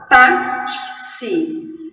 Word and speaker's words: táxi: Porque pensem, quando eu falo táxi, é como se eu tivesse um K, um S e um I. T-A-K-S-I. Táxi.